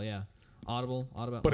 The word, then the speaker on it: Audibel: do you have trouble hearing come check out auto bell auto bell hearing is the latest and greatest